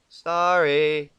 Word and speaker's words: sorry: Sorry. Seriously, that's how it is. S-O, pause, R-R-Y. It's, it's how you say it, okay?